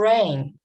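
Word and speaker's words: reign: in here you heard for rain i didn't say the g in here muscle did i pronounce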